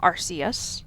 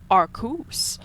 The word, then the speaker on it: Arceus: am starting Pokemon Legends Arceus or Arceus as some may also pronounce it or as one YouTuber I know who likes to pronounce it as arkus anyway welcome to my